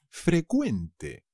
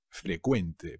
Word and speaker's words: frecuente: pero cuidado se dice frecuente frecuente pero la cv inglesa se convierte en una c que se pronuncia como una k ave frecuente los impuestos